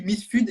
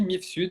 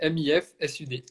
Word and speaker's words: Mifsud: commentateurs comment dit-on famille moi je dis Miss flud est-ce que ça se dit comme ça est-ce qu'on prononce le S dis-nous tout non non on prononce comme ça s'écrit MIF Sud c'est MIF Sud ok génial donc maintenant